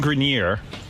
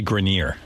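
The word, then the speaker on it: Grenier: of the week Adrien grineer and Kevin connley it's actually grineer Adrien grineer okay yeah yeah that's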